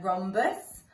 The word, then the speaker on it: rhombus: H in the word rhombus I can't hear the H but there is a hatch in there rhombus okay so the silent